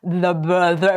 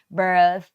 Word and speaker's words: birth: พยายาม นะ บาง คน The bir ไม่ เอา อย่าง งี้ นะ ลูก ไม่ ใช่ อย่าง เงี้ นะ ต้อง เป็น Birth ออก เสียง แ Birth แล้ว ก็ แลบ ปิน มา หยุด ไว้ นึก ออก ม คะ